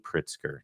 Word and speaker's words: Pritzker: I hate making mistakes his name is JB pritsker not Jabba I apologize you can see